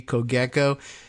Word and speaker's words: Cogeco: Or Cogec is the G, the hard G, Cogeco, is an ISP in Canada.